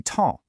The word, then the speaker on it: temps: You see temps, but you only hear tem. Both the P and the S just vanish.